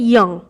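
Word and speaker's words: 이응: এরপর যে ব্যঞ্জনবর্ণটি রয়েছে সেটি হচ্ছে ইয়ং। ইয়ং এর উচ্চারণটা অনেকটা আমাদের যে বাংলার অনুস্বরের উচ্চারণ, একদম অনেকটা নয়, পুরো সেম উচ্চারণ, ইয়ং।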